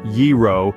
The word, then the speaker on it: gyro: and discover its Secrets a gyro sandwich pronounced yiro is a Marvel of